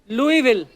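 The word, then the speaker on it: Louisville: आज आगे तभी बढ़ेंगे लुईस जब लिखा है तो स क्यों नहीं बोल रहे हैं जैसे नाइफ में क साइलेंट होता है के साइलेंट होता है वो तो के पहले आता है ये तो बीच में घुसा हुआ है बट कई बार लुईस प्रोनाउंस होता है एस के साथ और कई बार नहीं वो कई क्यों नहीं होता है कब होता है ये मुझे पता नहीं है मेयर ऑफ लुई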